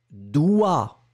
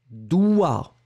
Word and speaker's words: doigt: Le doigt. Écrivez le mot, s'il vous plaît. Alors là, on est d'accord. On est d'accord que le doigt, vous l'écrivez D-O-I-G-T, d'accord, mais on ne prononce pas le G.